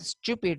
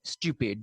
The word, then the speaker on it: stupid: as the case with stupid as well. Stupid. The Britishers say stupid, while Americans say stupid. Fine, stupid, without the incorporation of the yes sound in the pronunciation.